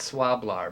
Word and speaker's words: Swlabr: hard to pronounce it's it's spelled s-w-l-a-b-r i call it swab-lar but uh and and